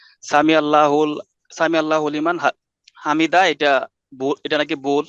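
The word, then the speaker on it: سمع الله لمن حمده: ডাকা] এটাকে যখন উচ্চারণ করবেন একজন মানুষ যখন উচ্চারণ করছেন সামি আল্লাহু লেমান হামিদা তো এইভাবেই উচ্চারণ এখন কেউ যদি এটাকে হুকে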